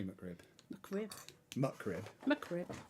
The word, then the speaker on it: McRib: Muckrib. McRib. So it's muckrib. McRib. Yeah. Not mickrib. No, McRib. See, she's not simple. Only simpletons say mickrib.